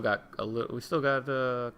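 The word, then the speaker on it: Gau: I always pronounced it Gao. Some people pronounce it Go. I'm gonna say Gao for this playthrough because that's what I've always done.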